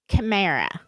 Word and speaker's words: chimera: Um, you pronounce this word chimera. Chimera. Because and there's different ways to spell it, but I asked a bunch of Google things like how to pronounce it. So I wasn't saying it wrong.